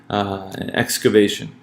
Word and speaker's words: excavation: Excavation. So in the word excavation, we'll notice that A receives primary stress.